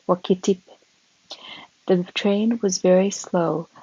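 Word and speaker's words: Wakatipu: We left Invercargill by the 6:45 train in the morning to make an expedition to Lake Wakitip, pronounced Wakitip.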